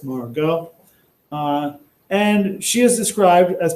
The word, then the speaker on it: Margot: It's pronounced like this, Margot.